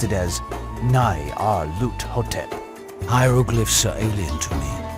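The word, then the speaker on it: Nyarlathotep: the side mean the director of the museum pronounced it as n r lot hotep hieroglyphs are alien to me but I know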